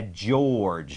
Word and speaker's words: George: G E นะ ครับ ตัว G แล้ว ก็ ตัว E ที่ ต้น คำ ไม่ ออก เสียง จะ เป็น เหมือน อ่า แค่ George นะ ฮะ George ซึ่ง บาง